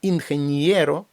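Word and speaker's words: ingeniero: і в багатьох наприклад інхенієро так само іе інхенієро ніби після н іде м'ягкий знак а далі є от на це треба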